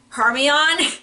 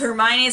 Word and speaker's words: Hermione: my boyfriend mentions that someone said her might Hermione as her me on so and didn't know it was pronounced Hermione so I'm like just